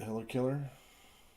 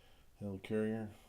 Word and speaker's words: Helicarrier: Next one we got here is Detonate the Helikiller. Helicarrier, sorry, kind of mispronounced it.